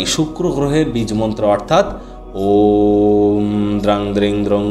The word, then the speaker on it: ওম: আর এই ওয়ের উচ্চারণ পেট থেকে, অয়ের উচ্চারণ গলা থেকে, আর ময়ের উচ্চারণ মাথা থেকে হবে। আমরা কিন্তু এই ওম শব্দ উচ্চারণের মাধ্যমে আগে